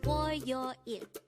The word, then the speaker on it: 월요일: Again, it's 월요일. This is pronounced as a 3-syllable word. The first syllable is 월, second syllable is 요, and the third syllable is 일.